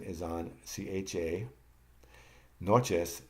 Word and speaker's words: noches: Noches, the accent is on NO.